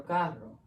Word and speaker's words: carro: Carro caro, caro carro.